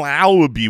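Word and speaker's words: Laube: That's it's Dylan Lowby. We looked it up. Yeah, we did. Rhymes with wow.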